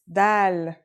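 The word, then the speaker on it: د: Our first letter is Dal. It's just like the English D.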